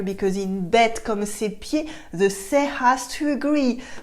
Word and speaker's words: pieds: Our second example for today is bête comme ses pieds. Bête comme ses pieds. As you can notice here, I don't say the D, you can hear it.